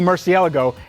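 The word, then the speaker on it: Murciélago: Lamborghini Gallardo Spyder and that is my 2003 Lamborghini Murcielago and yes that is the right way to say it all right cold start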